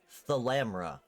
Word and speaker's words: Thalamra: I keep saying that wrong. I keep typing as Thalmara. It's Thalamra. It's weird.